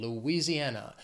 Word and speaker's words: Louisiana: the next date Louisiana it has five syllables the stress is on that fourth syllable that an Louisiana and when I think